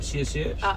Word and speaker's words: 谢谢: Thank you is a 谢谢.